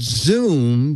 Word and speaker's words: Zomm: okay this is it it's called Zoom but it's spelled zo mm as opposed to zo M sounds like Z oh maybe